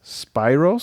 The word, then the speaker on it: Spyros: name is s p i r o s Spyros spos spir Spiros f o k a s